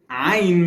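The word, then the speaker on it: عين: to like pronounce it, it comes from the throat a little bit.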